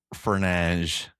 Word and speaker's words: Fernandes: It's Fernandes.